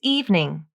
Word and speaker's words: evening: six this evening evening it looks like evening like it should be three syllables but it's not the best pronunciation to use is evening the middle e is dropped from the pronunciation and evening is pronounced as two syllables evening meet me at